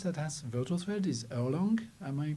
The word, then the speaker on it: Erlang: I think the only other language that has virtual thread is Erlang. Am I pronouncing that correctly? Erlang, yeah.